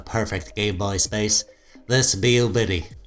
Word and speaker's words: Miyoo: game boy space this beau biddy how do you say that bayou be you be like a cat mew yeah this thing took